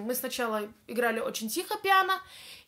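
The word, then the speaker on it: piano: динамика - это тихо обозначается буковка п и читается как пиана следующая динамика в меру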